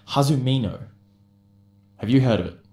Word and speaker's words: Hazumino: it it sounds cool so that's hazumino yeah hazumino how do you spell that uh h-a-z-u-m-i-n-o there you go folks and